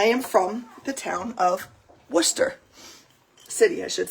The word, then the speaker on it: Worcester: is because I am from the town of Worcester City I should say um and that's how you pronounce that w o r c s t e r is pronounced Worcester so I actually have no idea if I'm